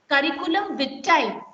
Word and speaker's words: curriculum vitae: Curriculum vitae. Speak. Curriculum vitae. Curriculum vitae. Vitae. Okay, that's the pronunciation.